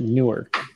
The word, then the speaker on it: Newark: but you pronounce it newark actually you pronounce it n-o-r-k are you talking about